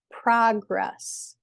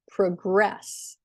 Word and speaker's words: progress: or a verb like progress and and progress so as a noun the first syllable is stressed as a verb the